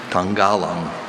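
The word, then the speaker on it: tangalung: Your word is Tangalang. Tangalang means a long-muzzled civet that is dark gray with longitudinal black stripes more or less broken into spots, widely distributed in southeastern Asia. Tangalang.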